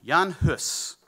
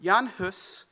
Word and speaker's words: Jan Hus: to introduce you to Jan hus is spelled h-u-s um it's it's Czech which is why it's not pronounced quite the way that we might expect but Jan Huss is born around 1370